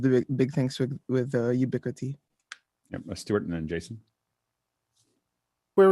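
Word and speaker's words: Ubiquiti: under can't be unseen the other pronunciation for it is UB be cutie Jason you ubiquity makes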